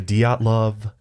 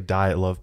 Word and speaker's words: Dyatlov: Today we are talking about the Dyatlov Pass incident. Okay, That's how you actually say it. I had to look up the Russian pronunciation for it.